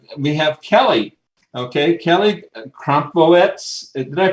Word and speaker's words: Crompvoets: Okay, Kelly Crompvoets. Did I pronounce that correctly? Crompvoets. Say it again. Crompvoets. 2 syllables.